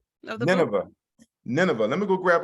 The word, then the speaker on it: Nineveh: So pronounce the name of the book. Nineveh.